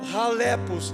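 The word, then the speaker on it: χαλεπός: E a palavra, Paulinho, é palavra halepos. Na tradução grega, como é o grego, o CH é uma letra rutural. Então você fala halepos, mas o português é chalepos, é CH, mas pronuncia como R.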